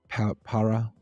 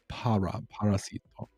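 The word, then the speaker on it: parásito: It's not para because I used to say el parasito and I was wrong. Not the parasite. It's parasito. El parasito.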